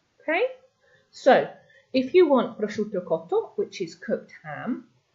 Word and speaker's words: prosciutto: SCI sound followed by a vowel. Okay, so we're not pronouncing the I, but that is a sh sound. So what we have here is prosciutto cotto.